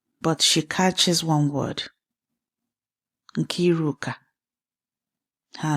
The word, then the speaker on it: Nkiruka: Nkiruka. Her name. Her father's name for her. Auntie Chidinma says it the way it was meant to be said. 3 syllables. Each one placed with care.